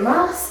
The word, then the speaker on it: mars: lot about exception here mars is one of the exceptions where we have to pronounce s even though it's at the end of a word and it should be